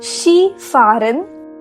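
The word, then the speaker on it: Skifahren: she foreign skiing here although the spelling of ski is s kha e the pronunciation of this word has to be she in german so it is she farin wandern hiking shopping lasen reading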